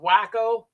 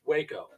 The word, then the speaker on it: Waco: and some people go is that pronounced wacko no it's waco you know but i've had people actually tell me i i think i've been to wacko texas i'm like it's not wacko um dark corner films